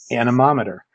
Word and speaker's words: anemometer: Usually when I do this in a public setting, I have everybody stop and say the word anemometer.